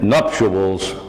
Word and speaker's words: nuptials: And the nuptials were in the paper, printed in the paper.